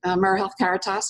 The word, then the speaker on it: AmeriHealth Caritas: AmeriHealth Caritas is where we are now. Thank you for pronouncing it correctly.